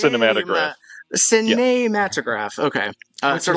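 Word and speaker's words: Cinématographe: I think um the accent's on the middle e actually not the end. It is pronounced cinematograph matagraph.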